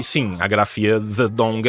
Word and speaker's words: Zedong: e sim a grafia zedong é para deixar mais próximo do que é no original em mandarim mesmo né a transliteração é mais próxima do que do que o tsetung que a gente vai pronunciar tsetung até porque a gente